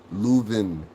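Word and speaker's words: Leuven: Louven. Louven. That's how you say it.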